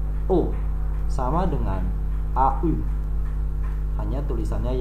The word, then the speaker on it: aux: Tulisannya AUX, dibacanya O.